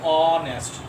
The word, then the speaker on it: honest: এখানে H হচ্ছে consonant but according to these are consonant but pronunciation O, honest, not honest.